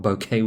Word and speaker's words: bokeh: to look up what bokeh was again and the pronunciation is supposed to be pronounced similar to bouquet but not quite like it um it's basically a